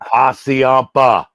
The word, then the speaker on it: Hassayampa: Hassayampa.